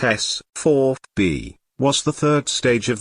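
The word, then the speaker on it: S-IVB: of the double craters the sieve b pronounced s 4 b was the third stage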